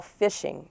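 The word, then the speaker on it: phishing: there is something that we call fishing it's not spelled with an F it's spelled pH i SH ing and what that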